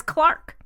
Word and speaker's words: clerk: they pronounced it in England as cleric they pronounce it as Clark just completely yeah so the occupation is a